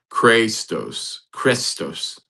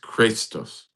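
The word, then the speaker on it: χρηστός: The word is pronounced. Christos. Oh. Ah. Interesting. Sound familiar? Christ. Christos. Pronounced Christos.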